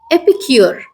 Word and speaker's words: epicure: French থেকে যখন ইংরেজিতে এটা আসে তখন এটার উচ্চারণ হয়ে যায় এপিকিওর।